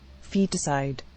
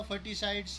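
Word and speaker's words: foeticide: Because of reckless female फोइटिसाइड्स, अब इसकी pronunciation देखिए तो क्या होगी, फोइटिसाइड, इसका मीनिंग यहाँ पर आ गया feticide, feticide, feticide, अब मैंने बोला फर्टिसाइड्स, ये बोल दिया फिटिसाइड्स।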